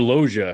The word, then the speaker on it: Loggia: And I think is it Robert Delia? Is he the one that plays the general? I can't remember. Yeah, Robert Loggia.